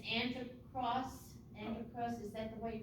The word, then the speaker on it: Antiochus: the angel tells him and i'm assuming it's anti-cross antichrist is that the way you pronounce him yes antiochus was an evil king yes at the time